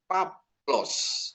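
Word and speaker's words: Παῦλος: A ketemu Y menjadi F. Paplos ya. Bacanya bukan Paulus tapi Paplos ya.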